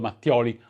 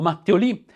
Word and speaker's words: Mattioli: Ma queste in realtà sono tutte prove circostanziali, difficili dire che ci possa essere certezza riguardo Mattioli o Mattioli, come lo pronuncerebbero i francesi.